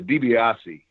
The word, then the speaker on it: DiBiase: And then I'm not sure how Mid-South did it, but I know the DiBiase is the correct pronunciation.